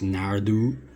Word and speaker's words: Naru: Like, Naru here, apparently it's pronounced Nardu, according to the Disney fandom page, and I never thought I would see the day in which I would be reading about Predator in the Disney fandom page, but here we are. It's 2022. According to this page, her name is pronounced Nardu. Nobody calls her Nardu.